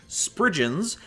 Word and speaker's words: spriggan: Spriggans, or as I learned how to pronounce them in research, Spriggans, are fairies of Cornish